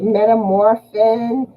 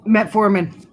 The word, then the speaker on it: metformin: medicine is horse so what now it's like metamorphin it's a diabetic medicine i'm probably saying it wrong metformin yeah that stuff is horse and and when